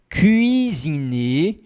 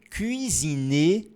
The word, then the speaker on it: cuisiner: Elle veut cuisiner un gâteau. Complicado, né? Treina um pouquinho isso aqui, ó. Cuit, ó. Faz o biquinho. Cuisiner. Treina um pouquinho esse aqui, ó. Cuisiner.